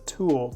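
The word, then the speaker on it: Tul: The silver pen is a Tool, T-U-L, I guess is how you say it, and I've really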